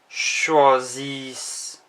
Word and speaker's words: choisissent: Notice the ENT isn't pronounced. Choisis. This is also the same for they. Elles choisissent.